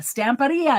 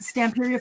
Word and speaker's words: Stamperia: says yes perfect so so it is Pizzaria stamparia they are now a pizzeria in my mind so I'm trying to get in the habit of saying it correctly because that is the correct way to say the name of the company the kid with the